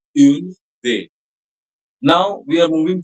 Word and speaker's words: une: The other one, which is used before a feminine singular noun, will be pronounced as une, and the third one, which is used before any plural noun, will be pronounced as they.